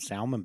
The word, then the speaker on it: salmon: I eat salmon out of a can and salmon patties. Salmon? Salmon. You mean salmon? It's not salmon. It is. The L is silent.